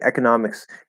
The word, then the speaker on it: economics: oh yeah that's right economics can be pronounced with e that's right that's another way to say it uh you say economics